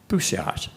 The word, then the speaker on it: bousillage: He said, let me share with you, the word's pronounced bousillage, not bousillage. There's a French word, and those L's aren't in there. He said, don't put the English pronunciation.